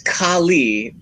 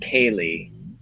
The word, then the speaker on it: Kali: It's Kali, pronounced like Carly, not Kaylee.